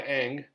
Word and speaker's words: Ingres: In the Ingres painting on the left, and that's how you pronounce that, Ingres is Ingres, Napoleon is a Roman emperor.